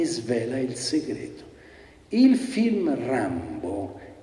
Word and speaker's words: Rimbaud: fa professor sappiamo tutto comunque se pronuncia rambo questi sono i titoli